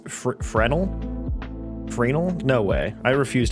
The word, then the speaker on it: Fresno: How do you say Fresno? I didn't know the S was silent for the longest time. Are you serious? So, it's frenal.